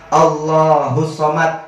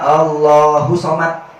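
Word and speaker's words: الصمد: Kemarin ada yang diajarin qul huwallahu ahad, Allahus somad, dibacanya Allahu somad. Itu kan huruf dal. Dal itu qalqalah, berarti bacanya Allahus somad.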